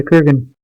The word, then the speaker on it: Kurgan: Yeah, Kurgan. So that was the right way to pronounce it.